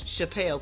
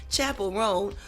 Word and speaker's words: Chappell: name of Chapel rone I would always say her name was Chappelle cuz it looks like Dave Chappelle but Chapel R who had just walked